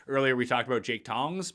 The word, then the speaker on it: Tonges: Yeah, maybe, or Tonges, as he likes to pronounce his name, which doesn't make any sense. That's not how anyone pronounces any name. Tongs is what we're going to go with, because that actually is how it's spelled. I don't care how you think you pronounce it. It's not how it's pronounced.